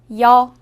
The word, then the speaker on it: 여: 여. 여는 먼저 이를 소리 내다가 바로 이어서 어를 소리 내며 발음합니다. 이와 어를 순서대로 빠르게 말해요.